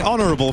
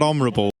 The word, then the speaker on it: honorable: can't say he's not honorable. Honorable. Honorable. That's the one. H is silent.